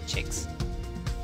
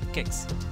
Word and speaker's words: CICS: it is more usually pronounced by CI CS in Italy it's pronounced as chicks in Portugal and Brazil it's pronounced as sex with an IBM it's referred to as kicks in Poland India and